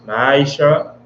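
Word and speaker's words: מעשר: verse 8 to 10, means tenth in Hebrew and pronounced Ma'aisha, 10% of every penny of any increase the Lord gives.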